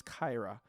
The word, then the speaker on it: Kaira: I keep trying to mention it as Kara. I don't. It's not Kara, right? It's Kaira.